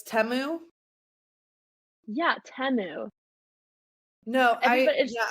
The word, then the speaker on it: Temu: the United States found out that it's not pronounced teu it's temu did you know that no and that's the